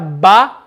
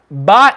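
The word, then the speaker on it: باء: say the letter ba ba is when the outer part of the lip okay the dry part the outer part of the lip is the dry part when the dry part of the lip meets so ba did they say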